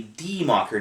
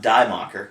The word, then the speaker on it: Die Macher: So first of all, the name of the game is actually Die Macher, not Die Macher.